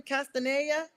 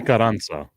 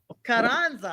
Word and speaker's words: Carranza: How does he pronounce his last name? Castaneda? Carranza. Carranza. I got the wrong vowels and everything.